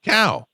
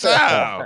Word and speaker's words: Sal: Cal. Mm-hmm. How you doing, sir? Sal. Hey, Sal. You got to say it like that. It's Sal.